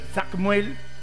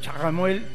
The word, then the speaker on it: Chamuel: Chamuel, se escribe Chamuel tal como lo escribimos en castellano y la pronunciación va a variar dependiendo de la latitud. Puede ser Samuel. Puede ser Chamuel.